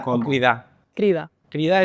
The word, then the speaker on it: Crida: Crida es el oficial. Sí. Pues todo el mundo lo dice mal.